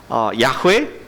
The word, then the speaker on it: 야훼: 그것을 우리 히브리어 발음으로 하면은 야훼 혹은 여호와라고 우리가 발음을 하고 있습니다.